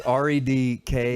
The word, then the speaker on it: Redkach: It's Redkach. No.